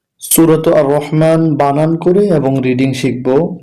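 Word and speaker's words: الرحمن: মিম খারা জবর একালিফ মা, আর রহমা। নুন পেশ নু, আর রহমানু। কিন্তু আমরা যখন এখানে ওয়াকফ করব বা থেমে যাব, তখন উচ্চারণটা হবে আর রহমান, আর রহমান, আর রহমান।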